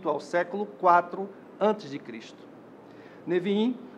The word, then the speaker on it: Neviim: O termo é formado com as iniciais dos livros que fazem parte da Tanakh: Torá, Neviim, pronúncia atual da palavra Nebiim, Ketuvim, pronúncia atual da palavra Ketubim. Torá é um conjunto formado por 5 rolos sagrados: Gênesis, Êxodo, Levítico, Números e Deuteronômio.